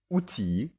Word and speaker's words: outil: Cependant, gentille et outille, au singulier comme au pluriel, se prononcent i et non il.